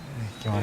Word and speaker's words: Kimani: Kimani. I pronounced it right? Kimani.